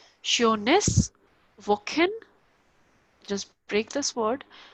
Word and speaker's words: schönes: See, SCH is sure, the sure sound. OE here is O umlaut, so it is io, sure, and NES is ness, sureness.